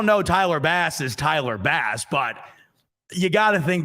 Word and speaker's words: Bass: Under the pronunciation guide, Tyler Bass, next to Bass, they write in parentheses, like the fish.